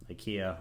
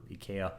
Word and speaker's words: IKEA: Like here's something you would get at IKEA or IKEA, depending on how you choose to pronounce it.